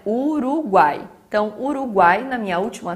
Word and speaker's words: Uruguai: A gente não separa Uruguai, né? Senão teria um acento no final e não tem. Então é Uruguai.